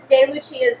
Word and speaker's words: DeLucia: So it is said DeLucia. It's Italian. It's not Spanish. It's not. So DeLucia's Bake Shop.